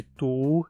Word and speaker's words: du: as seguintes e continua e tu continua tu mas por causa da pronúncia hatuna ou acaba ficando curto em vez de tu um dizemos só tu é se transforma em